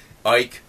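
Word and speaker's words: Icke: with David Ike uh I don't call him ick anymore because I I was always mispronouncing that not on purpose but Ike um he's um he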